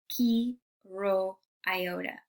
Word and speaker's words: Chi Rho Iota: In Greek, you would pronounce it chi rho iota.